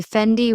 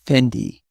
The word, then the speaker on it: Fendi: I notice people say Fendi with stress on the di. Italians say Fendi.